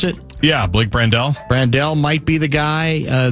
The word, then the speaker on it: Brandel: And so now you might put, is it Brandel? How you pronounce it? Yeah, Blake Brandel.